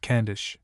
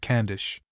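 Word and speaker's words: Cavendish: Banks as Marchbanks, and the illustrious name of Caendish was for centuries familiarly pronounced Cand. And Wdsworth has even introduced this name into verse so as to compel the reader by a metrical coercion into calling it Candish.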